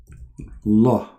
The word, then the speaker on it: Allah: If we pronounce the name of the God of Islam, it is like this. Allah. Al in Arabic today is equal to the. La is the name.